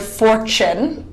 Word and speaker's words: fortune: T can sound like just the phonetic sound of T, like in the word tea, or it can sound like the CH sound, like in the word fortune. The CH sounds like fortune.